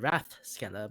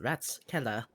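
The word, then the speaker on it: Ratskeller: people here call it wrath skell but uh I think it's well it's technically pronounced rats Keller as in council's sell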